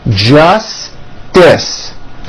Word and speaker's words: justice: Justice. Don't drop the middle T. Justice.